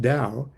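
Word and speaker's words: Tao: Dao pronounced Dao is a word which defies literal translation into English.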